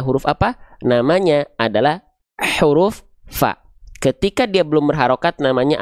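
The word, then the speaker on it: ف: Fa berubah menjadi Pa. F berubah menjadi pi.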